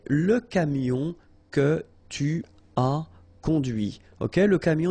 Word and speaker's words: conduit: And that's when you hear the difference between conduit, because remember, final T is not pronounced, conduit, here, and then the feminine, conduite.